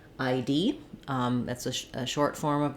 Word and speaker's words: ID: I being the diphthong I, and D being the D and E sounds together, ID. In an abbreviation like ID, we stress on the last letter of the abbreviation.